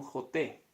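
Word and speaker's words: חוטא: que nunca sea un joté, imposible. Joté es la pronunciación.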